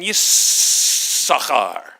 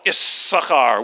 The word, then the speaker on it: Yissachar: kid number 8 is born, Leah names him Yissachar. And in English it's spelled Issachar with 2 S's.